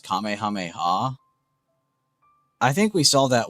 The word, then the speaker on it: Kamehameha: purpose and they were saying some crazy ass pronunciations. The kamiama or whatever the I heard someone say that one got me. I started crying when I heard that one. Kami mama or it it killed me.